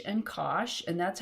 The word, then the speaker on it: cosh: need to know the definition of cinch and kosh and that's how you pronounce these two functions this is kosh and this is cinch and the other hyperbolic